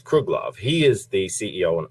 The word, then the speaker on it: Kruglov: right is actually the no it's kruglov k r u g l oov so it's kruglov he is the CEO